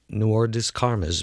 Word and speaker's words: Noir des Carmes: It's spelled N-O-I-R. Noir. D-E-S. Des. C-A-R-M-E-S. Carmes. Noir des Carmes, melon.